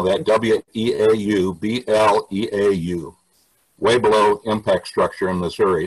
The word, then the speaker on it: Weaubleau: And its correct name is Weaubleau. I'll spell that W-E-A-U-B-L-E-A-U.